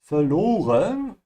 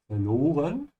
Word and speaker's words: verloren: Verloren is to lose. Remember to pronounce the V like an F, yeah, verloren. And also notice how I am stretching the O a little bit when I say verloren.